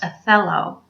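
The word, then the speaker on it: θέλω: It's spelled T-H-E-L-O, pronounced athelo.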